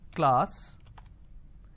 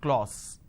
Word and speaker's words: class: sound r another example the word is class and the pronunciation is this is how the pronunciation is but people make a mistake they say or sir instead of saying class they end up pronouncing this as claus okay now why does